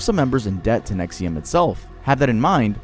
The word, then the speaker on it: NXIVM: Let me introduce you to NXIVM, pronounced NXIVM, a multi-level marketing company and self-help organization co-founded in 1998 by Rainier and a former psychiatric nurse named Nancy Salzman.